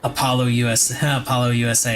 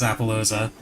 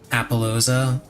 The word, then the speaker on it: Appaloosa: They absolutely have to ban Apollo USA. That's how he pronounces Appaloosa.